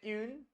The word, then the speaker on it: une: नहीं, यूएनई को पढ़ते हैं यून, यून, यू यून.